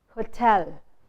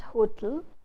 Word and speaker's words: hotel: Whereas the stress is supposed to be on the second syllable, hotel, not hotel, but hotel.